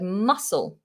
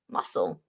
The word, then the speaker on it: muscle: Another exception to the rule is the word muscle. Muscle. Muscle, in the C in muscle is followed by an L, and yet it's pronounced as an S.